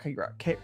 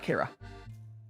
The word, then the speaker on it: Kara: Or not Kira. Kara.